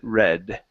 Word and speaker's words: read: That that would mean we pronounce it red.